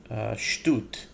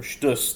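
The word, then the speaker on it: שטות: that equals 715 is the Hebrew word shtut, or shtus, depending on your pronunciation, which is silliness, foolishness.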